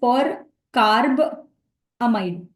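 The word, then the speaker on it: percarbamide: to convert it to First something called as per carb amide that's how you pronounce it thus it strikes two target at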